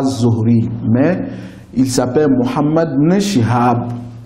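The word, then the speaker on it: Zuhri: la sorte mais généralement dans les livres je vois son nom azori et les grands savant aussi prononce son nom à zohri mais il s'appelle Mohammed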